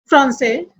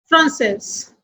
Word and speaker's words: Français: As I told you, words ending with S, D and T are silent in masculine and sounds in feminine.